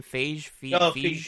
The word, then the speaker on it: Feige: Feige.